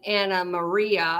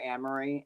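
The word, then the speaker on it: Annemarie: think of other than anarie pronounces her name Anna Maria and Andy keeps calling her anarie and which is um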